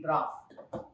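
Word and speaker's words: draught: It is D-R-A-U-G-H-T, draft. Check the meaning by yourself, fill in your lexicon, but that is another word, draft.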